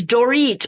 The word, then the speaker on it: Dorit: But yeah, it's spelled like Dorit, but it's pronounced like Doritos.